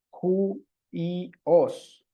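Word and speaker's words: υἱός: oi sino uji bien luego tenemos el diptongo y J que se ve de esta manera juntos y se pronuncia uy uy Okay acá tendríamos Entonces no aquí luego vamos a ver Por qué le agrego ese sonido al inicio Ju y os Ju y os eh más adelantito lo vamos a ver aquí es por el espíritu si observan ahí arriba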